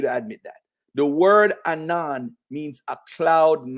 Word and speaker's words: Anan: right here the Hebrew the transliteration is Anan pronounced Anon you're not sharing your